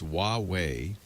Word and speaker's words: Huawei: It's Huawei.